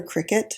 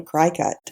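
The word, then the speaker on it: Cricut: They call it a cricket but it's spelled when I first got I used to call it a cry cut right cuz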